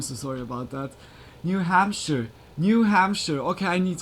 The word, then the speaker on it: Hampshire: Hamshshire.